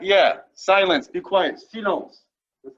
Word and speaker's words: silence: Silence.